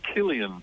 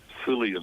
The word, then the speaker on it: Cillian: It's Cillian Murphy, not Cillian Murphy, but it's Irish pronunciation, that one.